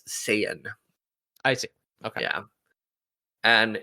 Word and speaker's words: Saiyan: but in the fun animation English dubs it's pronounced Saiyan I see okay yeah and if you hadn't